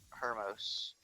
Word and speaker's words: Hermos: It's Tamias, Critius, and Hermos.